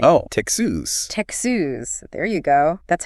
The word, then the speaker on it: Texas: But remember, there's a distinct tex sound at the beginning. Oh, Texas. Texas.